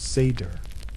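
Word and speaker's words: seiðr: Sometimes it relied on magic, specifically a mysterious practice called seder, pronounced seder, which was part sorcery, part spiritual therapy, and part my ex won't return my runstones.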